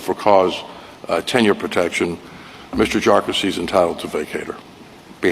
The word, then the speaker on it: Jarkesy: And by the way, it's pronounced Jarkesy, not a number of other ways that it's been pronounced by many.